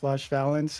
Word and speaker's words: Valence: I had the pleasure of being Valence is how I say his name, on his team last season in Thunderbirds.